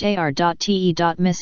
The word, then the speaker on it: Artemis: In the classical period of Greek mythology, Artemis, ancient Greek, rho tau epsilon mu iota, pronounced ár.te.mis in classical Attic, was often described as the daughter of Zeus and Leto, and the twin sister of Apollo.